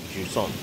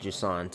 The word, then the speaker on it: Jusant: receding tide interesting okay so it probably is pronounced like juon Ju so it's either Smog or fog I'm going to go maybe even sand so since the game is called jant and it's about Tides